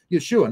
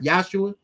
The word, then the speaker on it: Yeshua: to him by his original name Yeshua not yahshua and not Yeshua okay